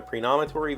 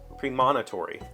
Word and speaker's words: premonitory: stock in that company because they had a predominatory vision that the company would soon go bankrupt pre-nomatory pre-monitory while Abby just said it wrong like a